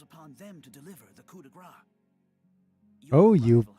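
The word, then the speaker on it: coup de grâce: Then the greater force at Brigantis falls upon them to deliver the coup de grace. Oh, you pronounced coup de grace correctly, yeah.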